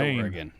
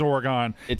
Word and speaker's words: Oregon: Port, cuz he says Oregon and it is It is Oregon. An Oregon guy. Oregon. Your emphasis is on the wrong syllable.